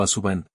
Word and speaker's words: Aswang: me escribió sobre una criatura llamada Asuang o Asuban, como se pronuncia más frecuentemente en el pueblo.